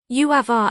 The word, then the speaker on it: Uamvar: Uavar, as the name is pronounced, or more properly Uaigmore,